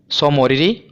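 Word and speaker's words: Tso Moriri: पहला है, देखिए जो ये टी है ना ये साइलेंट है, सो मोरिरी, और दूसरा है सोकर।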